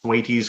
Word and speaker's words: Thwaites: Certainly you've reached and passed tipping points when things like I believe it's pronounced Thwaites Glacier, which some scientists refer to as the Doomsday Glacier.